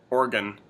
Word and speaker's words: Oregon: we now must begin pronouncing Oregon the way it must be pronounced. Oh, that's right. Weren't we going to practice saying that 10 times before? Oregon. In our next Oregon. I'm an organ donor. I enjoy eating organ meats.